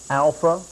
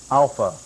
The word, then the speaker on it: alpha: Now, you may have heard the Greek alphabet something that sounds like this: alpha, beta, gamma, delta. But the Greek pronunciation is much different. It sounds like this as we begin our first letter. The first letter, of course, is alpha. We don't have an alpha, it is alpha.